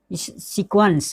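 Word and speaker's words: sequence: यहाँ पे देखिए सीक्वेंस जो है वो क्वा का उच्चारण आ रहा है।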